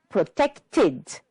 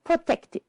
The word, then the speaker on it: protected: just one LOF and the last one protected and this time the Ed is heard it so we have three syllables protected that's all for our